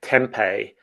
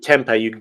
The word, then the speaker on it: tempeh: I mean, I think I grew up pronouncing it tempeh, but I don't.